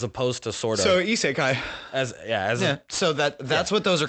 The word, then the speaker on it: isekai: You know it's actually got like 4 different pronunciations? Yes, but like the actual, it's isekai.